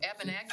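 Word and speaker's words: Abenaki: seems to say ABI abanaki I thought abanaki I think that's how it's pronounced abanaki yeah yeah I'm not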